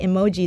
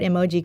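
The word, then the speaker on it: 絵文字: you this cuz most people people thought that emoji the word Emoji coming from emotion which is actually a coincidence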